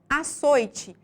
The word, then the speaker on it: açoite: palavra Guy portanto paroxítona em açoite a sílaba mais forte é soy portanto açoite é uma palavra paroxítona e por fim as